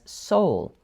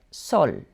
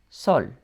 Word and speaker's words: sol: I usually hear English speakers pronounce it as soul, but it's shorter, like sol, sol.